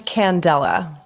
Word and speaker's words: Candela: sure I'm going to do it wrong it's pronounced a Candela Candela oh I think I actually got that